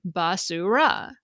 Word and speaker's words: basura: Now, in contrast, the Spanish word for garbage is basura. We pronounce each vowel sound in that word clearly, basura, none of them swallowed.